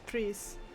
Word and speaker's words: Preis: Fun fact, the German for price is Preis, and it's pronounced exactly the same, so that's Grand Carbon price.